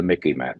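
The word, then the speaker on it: MICIMATT: what I call the Mickey Matt. Let me just reiterate that. This is in the dictionary now. The Mickey Mat rhymes with the Mickey Mouse a little bit so you can remember Mickey Matt.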